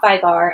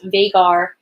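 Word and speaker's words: Veigar: Like, the majority of the League of Legends like community that was chatting with me there says it's not Vygar, and they called Vagar.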